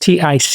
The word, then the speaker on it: Tyce: And Tyce, I've never heard that name, Tyce, pronounced Tice, I think, Tyce.